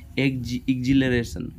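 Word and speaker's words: exhilaration: क्या होता है, देर इज एन एग्जिलरेशन, यहाँ जो एच है वो साइलेंट है, एग्जिलरेशन।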